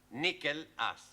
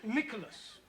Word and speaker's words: Nicholas: upon a times there was a man called nickel ass that's not quite right no no once upon a time there was a woman called nickel us it's pronounced Nicholas all right once upon a time there was